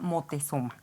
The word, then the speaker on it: Motezuma: se llama ópera motezuma y no lo estamos pronunciando mal Lo que pasa es que los europeos no pueden decir Moctezuma Entonces se llama motezuma Hola doctora Elizabeth Gracias